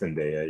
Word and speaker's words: Zendaya: always say it wrong I always says the other day I think it's Zendaya yeah Zendaya okay uh